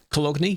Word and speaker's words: Cologne: Cologne? Yes. That's how you say it.